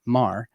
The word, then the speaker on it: Meagher: You can find everything that Harrison is working on at Harrison Meagher, which is spelled Meagher. Harrison Meagher.